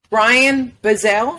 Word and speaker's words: Ryan Bazail: thing okay so Brian bezel yes I said it right you got it first try that's amazing so introduce